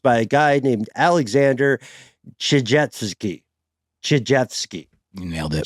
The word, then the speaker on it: Tchijevsky: This is a theory proposed by a guy named Alexander Tchijevsky. You nailed it. Chijvski. Let's see how we pronounce it in the episode.